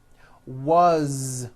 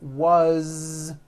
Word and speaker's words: was: z ending his mom is mary as you pronounce it with a voiced z as the phone rang was which is a very common word it was raining these voiced ending these are my children